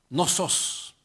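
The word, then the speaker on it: νόθος: Me pareció chistoso cuando estaba leyendo esto y busqué la palabra bastardos en el griego y se pronuncia no sos.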